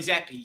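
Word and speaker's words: Zappe: Is it Zappy? Is that it? Am I saying it right? Yeah. Bailey Zappi, yeah.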